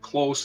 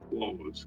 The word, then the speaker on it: close: I should say close instead of close.